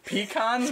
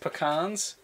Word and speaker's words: pecans: spaghetti spaghetti broccoli pee-pee I was gonna say P cons but I remember that they're pronounced pecans and so I didn't